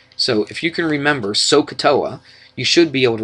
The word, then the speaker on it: SOHCAHTOA: it like this we say so Soh we pronounce it so Ka TOA or so Ka TOA so if you can remember that sohcahtoa in fact a lot of people kind of